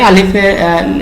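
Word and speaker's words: ألف: টানা যেহেতু নিয়ম নাই আলিফের ভিতরে, সুতরাং আলিফ অক্ষরের উচ্চারণ করতে হলেও আমরা টান দিতে পারবো না, দ্রুত বলতে হবে আলিফ।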